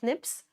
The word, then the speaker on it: SNP: We pronounce that as SNIPS.